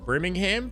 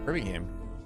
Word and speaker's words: Birmingham: I That's how I pronounce it with a U. Briming. Brimingham. Brimingham. Birmingham. I was going to say Brimmingham.